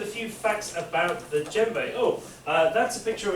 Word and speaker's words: djembe: Spelled slightly strangely, isn't it? There's a J just after the D. So the djembe looks like how it's spelled, but you always say it's djembe.